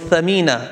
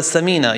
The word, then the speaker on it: Thamina: So I remember one sister was called Thamina and somebody called her Samina, you know, so you've got to make sure you pronounce the right word, yeah?